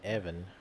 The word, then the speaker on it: Yevon: Well, they call it Evan instead of Yevon. 似てるけど別人だよ。 Because they don't pronounce the Y's.